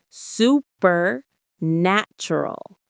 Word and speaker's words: supernatural: The stress is on the third syllable, nat. Say it with me. Supernatural. It's like super and then natural, but with the stress on nat.